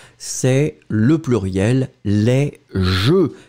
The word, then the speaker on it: jeux: Quand vous le mettez avec le X, c'est le pluriel, les jeux. J-E-U-X, qu'on ne prononce pas.